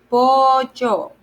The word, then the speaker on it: pollo: See, there's a double L, so that's why you spell it yo. Similar sound like it's to Y in English.